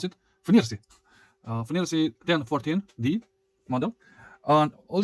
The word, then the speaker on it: FNIRSI: This is the correct naming, how to pronounce it. FNIRSI.